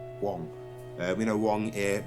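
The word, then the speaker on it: Huang: want to research him the wong is spelled h-u-a-n-g wong uh we know one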